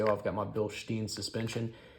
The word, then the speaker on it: Bilstein: If you hear someone say, oh, I've got my Bilstein suspension, it's technically Bilstein. That's actually how the Germans say it.